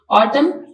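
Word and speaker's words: autumn: silent honest H silent ऑटम N silent Island S silent तो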